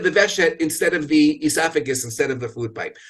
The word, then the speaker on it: esophagus: middle of the word esophagus and even though it's spelled with a pH that reminds me of the F sound in the word food and that's how I